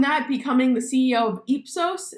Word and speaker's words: Ipsos: becoming the CEO of epsos is that is that the correct way of pronouncing it ipsos and I I ran